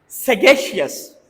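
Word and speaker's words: sagacious: एक वर्ड है हमारे पास, इसको हम कैसे प्रोनाउंस करते हैं जी? सगेशियस।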